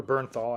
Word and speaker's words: Bernthal: John Berthel. You don't know how to, or Bernthal, I think is actually how you say it.